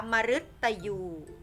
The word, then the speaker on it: มฤตยู: พาน นะ คะ คำ นี้ อ่าน ว่า พฤษภาคม เห็น ไหม คะ พฤษภาคม จะ ไป ค่ะ มัน ตาม หลัง มอง หมา คำ นี้ อ่าน ว่า มฤตยู อยู่ นะ คะ มฤตยู ต่อ ไป ค่ะ อ่ะ